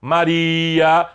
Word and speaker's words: Maria: Maria, sílaba tônica é o I, não tem acento.